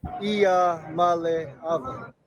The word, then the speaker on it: Iamaleava: by the way, we're just in case we mispronounce his name, we've got him ready. Iamaleava.